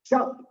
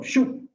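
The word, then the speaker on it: שוב: Volveos, volveos, es un verbo imperativo en el hebreo que significa, se llama shab, o bueno, en español, shub, es S-H-U-B.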